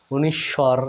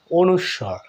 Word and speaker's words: অনুস্বর: দেখুন, আমরা কিন্তু ছোট্টকালে শৈশবে একটু ভুলভাবেও কেউ কেউ উচ্চারণটা করে থাকি, তাই না? কীরকম? অনিশ্ব মানে অনিশ্বত বোঝাচ্ছে, বা অনিশ্বর, এরকম ভুলভাবে উচ্চারণ করে থাকি। আজকের পর থেকে আপনারা ভালোভাবে উচ্চারণটাও করবেন। অনুস্বর।